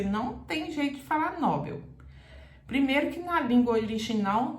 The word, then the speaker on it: Nobel: um prêmio prêmio Nobel o prêmio Nobel porque não tem acento e termina em L como anel tá palavra que termina em L duas sílabas Você não tem jeito de falar Nobel primeiro que uma língua